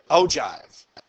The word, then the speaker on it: ogive: way back to vocabulary you know how to pronounce that oh jive we called that an ogive graph okay all right but